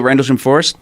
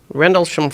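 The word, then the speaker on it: Rendlesham: Oh, Randles Forest. Yeah. How do you say it? Bentwoods. Uh Rendlessham R N D L E S H A M Rendlessham Forest.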